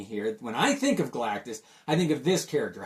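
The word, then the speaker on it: Galactus: to that character and I misread it as a young boy and I thought it was Galacticus so it's very hard for me to say galatis without mispronouncing ounc in his name this is great cover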